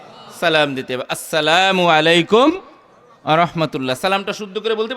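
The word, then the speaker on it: السلام عليكم: আসসালামু আলাইকুম ওয়ারাহমাতুল্লাহ। সালামটা শুদ্ধ করে বলতে পারি আমরা? বলেন তো একটু। আসসালামু আলাইকুম আবার নির্বাচনের সালাম দিলে হবে না সালাম সালামু এরকম সালাম না আসসালামু আলাইকুম স্পষ্ট করে আপনি যদি এই শব্দটাকে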